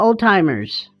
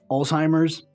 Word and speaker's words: Alzheimer's: And I'm also worried about old-timers. And we're worried about old-timers? So here's another one that a lot of people also get wrong. It's dementia. Also, Alzheimer's. It's not old-timers.